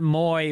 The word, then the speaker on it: muy: Muy, as in muy delicioso, is not muy, but muy.